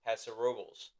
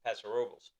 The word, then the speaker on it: Paso Robles: Now I'm gonna say I believe it's pronounced Paso Robles, Really? not Paso Robles. Oh, It's Paso Robles.